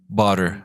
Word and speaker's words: butter: bother me. What's up? The pronunciation. Butter. Butter. Butter. Butter. So that is You some. butter me. Oh, yeah. So butter, not bother.